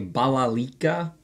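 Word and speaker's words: balalaika: So here we have a stringed instrument pronounced a balalika, and you want to look at these as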